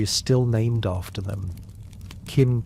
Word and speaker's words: Qin: Qin, pronounced roughly like Chin, became China.